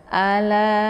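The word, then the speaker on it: ألا: Kemudian "a" dibaca pendek, dan "la" dibaca panjang karena ada alif yang didahului oleh fatha, diikuti oleh hamzah dalam kata yang berbeda. Ini adalah mad jaiz munfasil. Cara membacanya adalah dengan memanjangkannya 4 hingga 5 hitungan. Anda harus konsisten dengan napas Anda. Ala. Harus ada empat ketukan atau lima.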